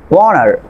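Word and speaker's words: honour: তারপর খেয়াল করেন এইস সাইলেন্ট লেটার এইস এর পরে ও বা ডাব্লিউ এর পরে এইস থাকলে আপনার এইস লেটারটি সাইলেন্ট থাকবে। এখানে খেয়াল করেন অনেস্ট, অনার, আওয়ার, প্রতিটি আপনার ওয়ার্ডের ভিতরে এইস এর পরে ও আছে।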